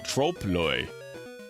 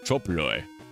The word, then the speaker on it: trompe-l'oeil: Trope-loy is pronounced in English as trompe-l'oeil. Trope-loy. Trope-loy. Rhymes with stomp boy.